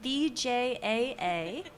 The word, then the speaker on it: VJAA: guys uh Jennifer Yos and Vincent James from bjaa that's how you say it and uh congratulations